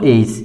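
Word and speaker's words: ace: এটার নাম হচ্ছে এই, অতএব এখানে উচ্চারণ হবে এই, তারপর সি, সি এর পরে ই থাকলে এই সি এর উচ্চারণ সাধারণত স হয়, যার কারণে এখানে উচ্চারণটা হবে এইস, এইস, এইচ।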